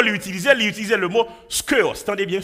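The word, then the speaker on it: σκεῦος: Il utilisait le mot skeos. Attendez bien, skeos. Si vous voulez écrire, vous mettez S-K-E-U-O-S. Américain mais prononcer le skewers.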